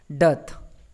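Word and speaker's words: dearth: ठीक है, तो नेक्स्ट वर्ड की तरफ चलते हैं, डथ। दोस्तों इसे हम डथ पढ़ते हैं, इसमें आर जो होता है वो साइलेंट होता है, तो डथ पढ़ते हैं, डथ।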